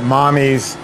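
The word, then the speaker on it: Mamis: a company called um she pronounces it mommy's gelato m-a-m-i-s uh that's Italian m-a-m-i-s is Italian for Mommy and Naomi Posner is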